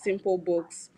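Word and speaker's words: SimpleBks: um just to clarify simple books is spelled simple bks but pronounced as simple books uh my name is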